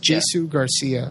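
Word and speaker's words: Jsu Garcia: spelled j s u yeah his name is Jesu Garcia as David de La Paz so I still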